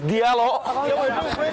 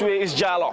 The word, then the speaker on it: Diallo: Jallo in the Senegalese spelling. D-I-A-L-O. And the British commentator will pronounce his name as Diallo. But we all know in the Senegalese way is Jallo.